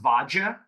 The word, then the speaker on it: Vadia: it was spelled but it was all actually pronounced vaja that's why it's vaj yeah that's why it